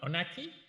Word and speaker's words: Meynecke: Meynecke? Well, it's more like Heineken. Like Heineken.